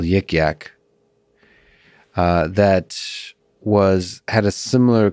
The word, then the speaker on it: Yik Yak: I think the thing you've spoken about that differs between Librex and Yik Yak is that Yik Yak was defined. Am I pronouncing it right?